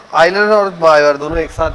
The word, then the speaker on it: Euler: हाँ, आयलर ने। इसी को आयलर प्रमेय कहते हैं। ठीक है, कुछ यूलर भी बोलते हैं। एक्चुअली EULER स्पेलिंग जो होती है वो EULER होती है।